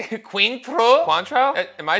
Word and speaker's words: Cointreau: How do they just say Cointreau?